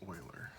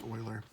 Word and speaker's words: Euler: the dude's name is oiler i know i know it looks like you or it's not it's oiler he's he was swiss okay so the swiss have different ways of pronouncing things so just understand when